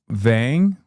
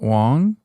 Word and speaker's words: Vang: Donald Trump told me personally as he was running and has said so since as I keep saying her last name wrong. It's Vang, not Wong.